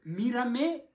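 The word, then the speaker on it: mírame: «смотри на меня и пей», это должно быть «мирамэ» и «бэ-бэ».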